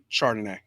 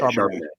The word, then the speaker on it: Charbonnet: How do you say his last name? Charbonnet. Chardonnay. Yeah, Charbonnet. Charbonnet. Yeah, Charbonnet. It's like a fancy wine, basically.